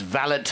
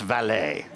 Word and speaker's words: valet: that he said we're not parking cars it's valid not valet so that was the first lesson but no